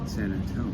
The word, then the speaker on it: San Antonio: That's how I said it, San Antonio. Yes. That's the right way to say it. Look at you, man. Not San Antonio. San Antonio.